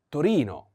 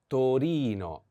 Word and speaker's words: Torino: austa wait wait no in italian we say torino torino torino so please pay attention to this different pronunciation sometimes we have this